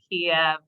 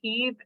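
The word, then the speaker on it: Kyiv: are we calling it cave now and not Kiev um you know I think a lot of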